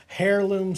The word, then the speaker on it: heirloom: All right, it's a 00 in the Heirloom series, which means has the heirloom stuff. It says heirloom. I think the H is silent.